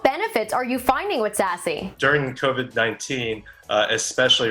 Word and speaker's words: SASE: So Secure Access Service Edge, as you mentioned, Jennifer, pronounced SASE.